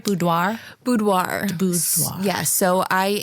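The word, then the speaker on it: boudoir: absolute favorite um do I say it right budoir budoir bu yes so I am a photographer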